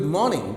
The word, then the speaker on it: morning: It's not good morning. R is silent there. Good morning.